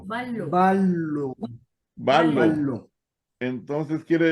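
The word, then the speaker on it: βάλλω: En el griego no Van. tenemos la doble, la Y. Vanlo. Esa se va a leer, hermana, como una Van. L. Vanlo. Vallo, Ballo.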